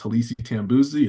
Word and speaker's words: Halisi Tambuzi: My name is My name is Hisi Tambuzi. It's spelled H A L I Si T A M B U Z I.